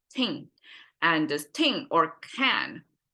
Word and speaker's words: 听: You see here, ting, we have the G at the very end, which means a deeper nasal sound over there. And it's the closest Chinese character that sounds like ting.